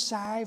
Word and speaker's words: Sive: And she wrote this, explain who she is, like, hi, my name's Sive, and it's pronounced S-I-V-E for those who don't speak it, and I'm 10 years old, and I make these beads and collars and dog on it.